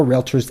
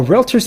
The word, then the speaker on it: Realtor: Realtor, not realtor. If you're saying realtor, you've been pronouncing it wrong this whole time. Do you see an A between the L and the T? No.